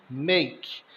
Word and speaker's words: make: verbo fazer é make o a com o som de e o k com o som de k o e com som de I make fazer café make Coffe